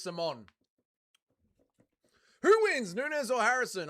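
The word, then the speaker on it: Simón: Isn't it pronounced Simon? Let's listen to how Martinez says it. It is Simon.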